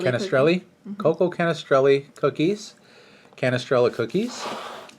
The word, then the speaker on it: Canestrelli: How do you pronounce that? Canestrelli. Canestrelli.